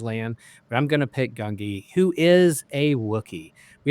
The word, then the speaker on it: Gungi: Gungi?